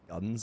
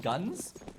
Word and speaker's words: GUN5: heard it's actually pronounced I've heard it's pronounced guns actually apparently I've heard that